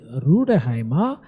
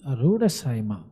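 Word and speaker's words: Rüdesheimer: We don't say Ruderheimer, but here in this case it is Rudersheimer.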